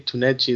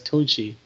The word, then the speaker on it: Tunchi: You kept saying Tunechi. That's Tunchi.